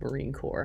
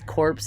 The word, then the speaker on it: Marine Corps: I've recently learned it's pronounced Marine Corps. I'm from Canada and uh I thought it was corpse as in like dead bodies.